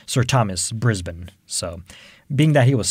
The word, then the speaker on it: Brisbane: at the end b-a-n-e you would assume you know bain brisbane but it's actually brisbane which was named after